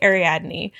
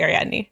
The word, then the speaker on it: Ariadne: with all porro pronunciations I listen to the audio books and so they say adne but I also am very aware that sometimes the Brits will pronounce things different than we do so I'm going to go with ar Adney I think Ari Adney